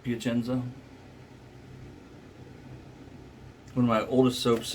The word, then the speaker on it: Piacenza: Piacenza. That's how you pronounce it, right? Piacenza.